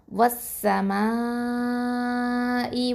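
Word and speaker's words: وَالسَّمَاءِ: இதுக்கு இடையில இருக்கக்கூடிய அலிஃப் லாமை வந்து நம்ம உச்சரிக்க மாட்டோம். அதாவது ஹம்சத்துல் வசலையும் லாமையும், லாமு தாரீஃப் அப்படின்னு சொல்லுவோம். இந்த ரெண்டத்தையும் நம்ம உச்சரிக்க மாட்டோம். ஏன்? இந்த அடுத்ததாக இருக்கக்கூடிய இந்த சீன் வந்து ஹுருஃபு ஷம்சியா எழுத்து, ஓகேவா? அதனால் நம்ம வந்து அல்ல வந்து ட்ராப் பண்ணிவிடுவோம்.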